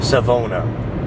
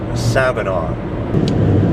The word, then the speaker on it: Savona: just feel the curvature despite how it's spelt on the sign it is not savona this is called savannah nectar of the gods